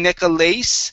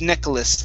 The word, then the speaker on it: necklace: Okay, now the A the A-C-E at the end, instead of it being necklace, it's necklace, like it's a short I and an S.